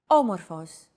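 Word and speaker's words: όμως: a language is intonation did you notice the accent mark above the first letter there is only one type of accent mark in modern Greek the acute accent it adds stress to a syllable a stress syllable usually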